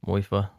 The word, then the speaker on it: Muifa: Oh, Muifa? Yeah, I Moifa? think that's what you heard, right, George? You listened to that video? M-U-I-F-A. M-U-I-F-A. Moifa.